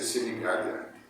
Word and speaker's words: Sinigaglia: Se escreve Sinigaglia, mas se pronuncia Sinigaglia.